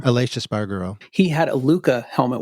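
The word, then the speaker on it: Aleix Espargaró: Aleix Espargaro.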